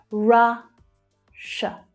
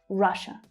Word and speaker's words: Russia: Followed by, so the double S here, SSIA, makes sh, the sh consonant sound. Russia. That's the unstressed schwa sound at the end. Russia.